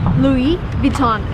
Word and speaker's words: Louis Vuitton: of the shop is Louis Vuitton again everything is French come on so everything needs to be pronounced in the French way if you want to